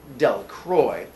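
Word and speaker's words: Delacroix: Jones and Dicky Democrats the villagers pronounced this name dunk Roy eventually made a great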